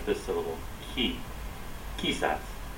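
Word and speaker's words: quizás: so you're supposed to stress this a little key sets key sets for the correct pronunciation for this word meaning perhaps in Spanish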